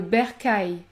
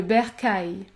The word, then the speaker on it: bercail: Lorsque vous avez la combinaison suivante, AIL ou AI2L, vous allez prononcer le son aïe, aïe, comme dans le mot le travail, le caillou, ou encore le bercail, le bercail.